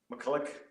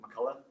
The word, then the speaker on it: McCullough: I came to America I always said McCulloch but when I came here they said come on I'm gonna say over here even over here the way it's spelled and they still pronounce it McCullough so I've lived here longer than I lived in Belfast so which one's right yeah yeah well either